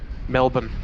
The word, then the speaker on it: Melbourne: so there you go how do you pronounce melbourne m-e-l-b-u-n melbourne that's the best way i can say it oh like 6866 yes